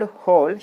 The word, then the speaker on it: hole: In the word hole, H is not silent. We are pronouncing it.